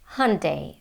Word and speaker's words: Hyundai: is this Korean brand Hyundai Hyundai this is how they say in the US and to me the American Way of saying it sounds closer to the original Korean pronunciation yong-dae Sean de Jong